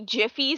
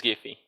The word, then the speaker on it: Giffy: So it's interesting that I have the hard G sound at the beginning, so it's Giffy, and you have the soft G sound, so you're Giries.